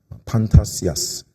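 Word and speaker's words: φαντασίας: 우리말로는 번역을 위험이라고 했지만이 헬라어 단어의 그 발음을 제가 들려 드리면 사실 더 다가옵니다. 뭐냐면 판타시아스입니다. 판타시아스.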